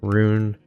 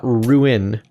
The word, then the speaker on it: rune: Rune. Not ruin.